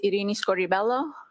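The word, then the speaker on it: Irini Scordibello: My name is Arini Scoribelloo. That's spelled I R I N I S C O R D I B E L L O.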